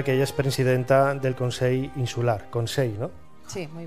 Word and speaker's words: Consell: Pues yo siempre, yo diría Consell o Consell, pero es la ella al final de sílaba tiende hacia la I, ¿no? Sí, Consell. Hay gente que le cuesta hacer la ella y hace I, pero es Consell.